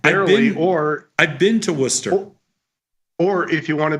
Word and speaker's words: Worcester: I've been to Warchester and I've had Warchester sauce.